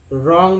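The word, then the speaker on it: wrong: Right, right तो समझते हैं राइट में लिखना होता है, डब्लू यहाँ पर साइलेंट है। रॉन्ग में भी डब्लू साइलेंट है।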